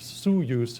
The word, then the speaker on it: Osoyoos: When it comes into view, Osoyoos looks like paradise. The name, pronounced Soyoos in the local Okanagan language, means narrowing of the waters.